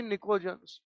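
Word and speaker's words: pnicogens: नाइट्रोजन family members को अपन निकोजंस बोलते हैं। पी साइलेंट है। They are said to बी निकोजंस।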